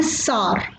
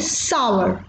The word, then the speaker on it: sour: लोग यूजुअली इसे प्रोनाउंस करते हैं सार, आई रिपीट सार, बट इसकी correct pronunciation is सावर, I repeat it इज सावर।